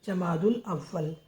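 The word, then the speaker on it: جمادى الأولى: अव्वल जमाद उल अव्वल जा मा का डंडा द और छोटे की मात्रा ला जमा दुल छोटा अदवा वाला वल अव्वल जमा दुल अव्वल तो यह 11वी शरीफ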